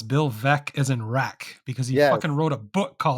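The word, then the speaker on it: Veeck: White Sox fan but I know it's Bill veck is in wck because he wrote a book called veck is in wck so it's kind of something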